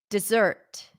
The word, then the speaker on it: desert: desert desert dessert desert desert desert is a noun desert where the stress is on the first syllable de de deert zert